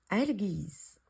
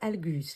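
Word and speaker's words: Algiz: Algis, que l'on prononce aussi ou qu'on peut écrire également Algus. Il faut savoir que dans l'alphabet runique, il y a plusieurs prononciations qui sont possibles.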